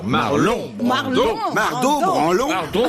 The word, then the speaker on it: Marlon: J'ai j'ai prononcé Marlot, j'ai eu tort. Marlon Marl Marlot branlon